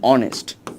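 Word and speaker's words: honest: কিন্তু এই দেখ ও কি একটা ভাওল বা এইচটা কিন্তু আসলে সাইলেন্ট আছে এইজন্য এটার পূর্বে কি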